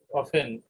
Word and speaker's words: often: I don't drive অফেন, এটা অফ, এটার উচ্চারণ অফেন স্যার অফেন, অফেন ও এন পি, অফেন অফেন অফেন, অফেন অফেন, ঠিক আছে?